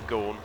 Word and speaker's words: Gorn: Depending on where he's from, of course, that could be Jim Goran. It will be Gorn, won't it? It's spelt the same as Vaughan, but with a G, so we'll go for Gorn.